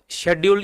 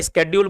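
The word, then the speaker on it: schedule: तो अनुसूची या शेड्यूल, अनुसूची हिंदी में और शेड्यूल या स्केड्यूल बोला जाता है, जो प्रोनाउंस करना अपना कर लो, स्केड्यूल शेड्यूल अंग्रेजी में।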